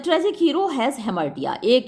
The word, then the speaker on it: हेमर्टिया: बता चुकी हूँ कि हेमर्टिया या फिर हेमर्शिया भी बोलते हैं कुछ लोग इसको, वैसे तो जो प्रॉपर प्रोनाउंसिएशन इसका हेमर्टिया ही है।